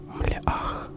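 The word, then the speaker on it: מלאך: Слово «ангел» на иврите произносится как «млеах», что буквально означает «посланец».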